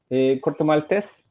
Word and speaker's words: Corto Maltese: in Spanish, we say corto maltese. Okay. How do you say it in United States? It's corto maltese here.